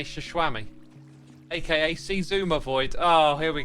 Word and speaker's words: Xisuma: It's pronounced Shishwam Bam, aka Shishwami, aka xisumavoid.